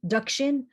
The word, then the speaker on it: Deccan: deccan meaning south because deccan is the anglicized pronunciation of duckkin or tokkin dakshin which means south in indian so the